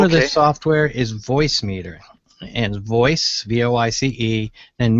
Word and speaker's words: Voicemeeter: The name of the software is Voicemeeter. And voice, V-O-I-C-E, and meter is spelled funny, M-E-E-T-E-R. So it's a purposeful misspelling.